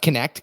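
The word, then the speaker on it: Knecht: haven't spelled this every time it's k-n-e-c-h-t cht pronounced connect connect chiropractic they are offering quality chiropractic care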